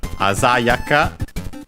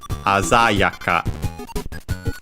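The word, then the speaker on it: あざやか: And then we have the adjective Asayaka accented on the za, because this is a rule of those adjectives, as we'll see, that end in ka. The accent is always on the third to last syllable. So, ignoring the ka, not the ya, the za in our case.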